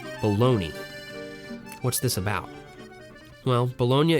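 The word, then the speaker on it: Bologna: epicurian fantasy somewhere near bolognia that's right I said bolognia it's a real place and if folks around here see it written out on paper they pronounce it a little differently baloney what's this about well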